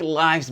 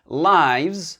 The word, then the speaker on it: lives: Parce que le pluriel de life, c'est lives, comme le pluriel de wife, c'est wives, d'accord?